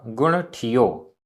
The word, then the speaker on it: गुण ठियो: गुण ठियो, आधा ट ठ, गुण ठियो, गुण ठियो।